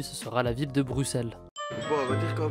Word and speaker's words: Bruxelles: Bruxelles se prononce bien Bruxelles et non pas Bruxelles, tout comme la ville d'Auxerre.